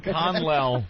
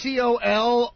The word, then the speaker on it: colonel: The word is C-O-L-O-N-E-L. Colonel. Colonel. But here. Oh, wait a minute. Did I say the word wrong? Yeah. Colonel. Oh, no, of course it's Colonel.